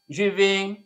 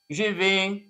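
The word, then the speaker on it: je vais: الي تحول في معايا جي في جي في انا اذهب بص يا جماعه التلات حروف دول يتنطق ايه جي في انا اذهب التي تضرب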